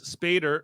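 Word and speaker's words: Spader: Ultron as played by James sper rhymes with Dave Mater kind of um and uh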